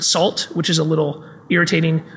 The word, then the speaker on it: NaCl: nacl by dan bernstein he pronounces it salt which is a little